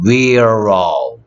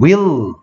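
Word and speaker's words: willow: 위로우. 위로우가 아니고 윌로우. 윌로우 L은 을답게 윌로우 윌로우 알겠어?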